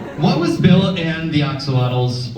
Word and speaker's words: axolotl: What was Bill and the axolotls, or axolots, if you want to pronounce it correctly?